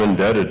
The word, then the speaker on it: indebted: It doesn't look like you pronounce it that way when you read it. So, I want to that's how it's pronounced. We are indebted. I am indebted to all those people whose names were read.